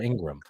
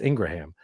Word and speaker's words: Ingraham: um is that Laura Ingraham Ingraham thank you for saying it right I was like I know it's not the way people say it people say Laura Ingram yes yeah it's Ingraham so she does stunts